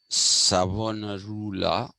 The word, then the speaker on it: Savonarola: If you want one takeaway from Girolamo Savonarola, actually, that is how you have to pronounce it in Italian, Savonarola.